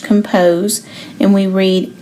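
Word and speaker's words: ∘: This open circle here is pronounced compose, and we read f compose g of x equals f of g of x.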